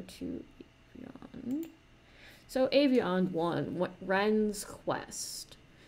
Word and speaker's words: Rhen's: you so Avion one Ren's Quest I believe the H is silent so let's just run